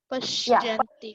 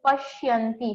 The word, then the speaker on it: पश्यन्ति: Pashyanti. Yeah, yes. Okay. Very nice, Deepika. You have tried correctly. Thank you, ma'am. Okay, students. So pronunciation for the last word is pashyanti. Sh and y combined. Pashyanti.